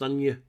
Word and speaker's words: Agnes: I think it's pronounced Anya in the film, but it's spelled Agnes.